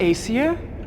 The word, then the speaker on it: Aesir: of aesir noah tune that's how it's pronounced the legend of acer and this fairy tale